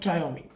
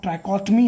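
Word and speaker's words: trichotomy: नो, लॉ ऑफ ट्रायोमी ध्यान रखने वाली बात है। लॉ ऑफ ट्राइकोटमी इज the real pronunciation, but बोलते हैं कुछ लोग।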